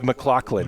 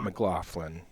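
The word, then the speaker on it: McLachlan: It's Mccclaclin, not Mclofflin.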